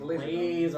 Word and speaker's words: Lazor: How do you pronounce it? Laser? Laser, like Scherzer.